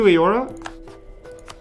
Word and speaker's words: Eora: Let's go to Eora. And... it doesn't really matter. But the truce with this guy is over fastest. Eora is pronounced E-or-A. Okay. E-or-A.